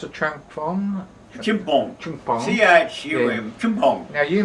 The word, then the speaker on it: Chumphon: Now, when you were down at, how do you pronounce it, Chumphong? Chumphong.